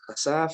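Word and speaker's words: חשף: Dice que viene del 2834, su pronunciación es hasaf, es una raíz primaria, quiere decir desnudar, desnudar, ¿ok?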